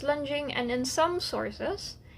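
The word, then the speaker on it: longeing: Even though it's spelled Longing, it's actually pronounced lunging, and in some sources, it's actually spelled Lunging.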